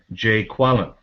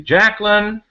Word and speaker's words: Jacqueline: Garvey's looking for Jay Quellen. That's the way he pronounced that name. So as you can see in this one, the correct answer is going to be Jacqueline.